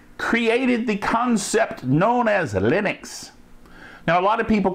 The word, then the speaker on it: Linux: Hello, this is Lenus Torvald and I pronounce Linux as Linux.